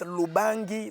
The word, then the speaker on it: Lubangi: Now to pronounce Lubangi, or she says Lubangi, the place of L, she put R.